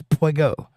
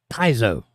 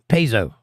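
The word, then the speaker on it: Peugeot: made good cars and says yes Jake it's Pego it's a French car and it's pronounced piso pzo really poo interesting pzo pzo it's a pzo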